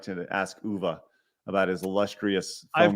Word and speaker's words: Uwe: I keep calling UV. Uwe.